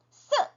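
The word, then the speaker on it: 四: 발음이 많이 비슷하죠 4가 스 스 10은 슈 이렇게 소리가나요 자 사는 혀를 평평하게 해서내는 의미예요 평설 의미라고 하거든요 혀를 평평하게 쓰 그냥 우리나라 발음 그대로 쓰레기 할 때 쓰 이렇게 하시면 되고 어떻게 돼요 동굴 소리죠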